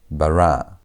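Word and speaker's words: בר: It is supposed to be v, but because of that desh, it's telling us to pronounce the bed with a B sound. So, it's going to be bar.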